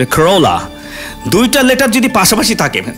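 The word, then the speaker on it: Corolla: করোল্লা মানে উইস্তা তিতা আমি বলতাম করোল্লা কারণ ওই যে দুইটা ল এল এল আছে পরে দিকে ওরেল্লা এটা করোল্লা না খরোলা দুইটা লেটার যদি পাশাপাশি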